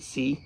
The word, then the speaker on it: SEI: that's a great question some people pronounce it c i pronounce it Sai I'm a Raphael from